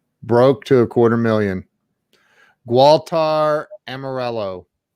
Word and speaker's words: Gualter Amarelo: to a quarter million gualtar amarello did i say it right walter morell you got it brother hey as long